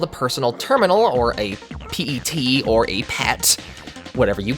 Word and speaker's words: PET: terminal or p-e-t or pet i was pronounced a p-e-t supposed to be pronounced pet i think saying